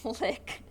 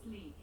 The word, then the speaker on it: Lique: Is that LIQ or is it Lick? You think it's leek? Like, no, that's like the vegetable. Hey Google, how do you pronounce Lique? That's pronounced leek.